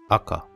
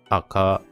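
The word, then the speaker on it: あか: Le aka, ça se dit aka, c'est pas aka. Parce que en japonais, quand vous écrivez ka, donc ça on va voir ça dans une deuxième vidéo, le ka qui s'écrit ka, ça se prononce pas comme en français ka, mais ça se prononce ka. Ka. C'est pas ka, c'est ka.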